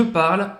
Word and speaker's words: parle: Não é parle, tá bom? Apesar de ser o E que tá aí também, como no je, não pronuncia esse E.